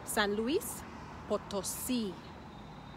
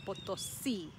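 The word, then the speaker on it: San Luis Potosí: it has three words san luis potosi san luis potosi the emphasis is at the end potosi now let's move on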